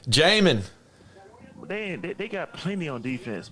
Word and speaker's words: Jamin: Jermaine Davis out of Kentucky. That says Jermaine? Defense, man. No, not Jermaine, but Jermaine. I said Jermaine. My fault. Jamin. That was Jamin. All right. Jamin.